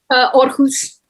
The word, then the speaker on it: Aarhus: Gue nggak bisa bacanya deh. Aarhus.